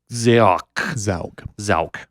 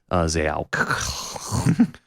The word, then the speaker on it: Xaoc: Xaoc. Mm. I do want to pronounce it correctly. Xaoc.